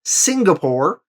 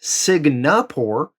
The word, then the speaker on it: Singapore: the last video one my pronunciation of singapore i pronounced it cigna por and uh yeah it was just a mistake for some reason i thought it was spelled differently i thought it was cigna and i recorded the